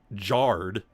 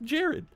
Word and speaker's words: Jarred: Mine is spelled Jarred. It's technically, if you go by the spelling, Jard, but it's just Jared.